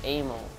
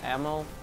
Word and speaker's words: ammo: m9 for them yeah that one pronounced it's a mo instead of ammo I was like dude that's not how you pronounce that he argued with me